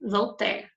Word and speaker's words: Voltaire: Pronuncia-se Voltaire.